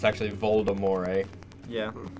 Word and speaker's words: Voldemort: Like, if you've read the Harry Potter books, it's like if you say Voldemort's name, like, he'll show up, like, once it gets tabooed.